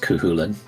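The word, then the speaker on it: Cú Chulainn: His name is pronounced Kuhulan.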